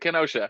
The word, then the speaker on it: Kenosha: Am I saying that right? I hear people. How do you say it? How do you say Yeah, Kenosha? yeah, that's it. Kenosha.